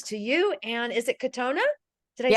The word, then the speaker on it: Kotona: And is it Kotona?